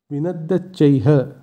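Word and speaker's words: বিনদ্যোচ্চৈঃ: এখানে শব্দটির শেষে বিসর্গ আছে তাই বিসর্গর জায়গায় হয়ের উচ্চারণ হবে। আমরা আগেই জেনেছি শব্দের শেষে বিসর্গ থাকলে সেই বিসর্গের জায়গায় হয়ের উচ্চারণ হয় সংস্কৃতে, তাই এক্ষেত্রে শব্দটির উচ্চারণ হবে বিনদ্যচ্চৈ, তার সাথে হ, বিনদ্যচ্চৈহ।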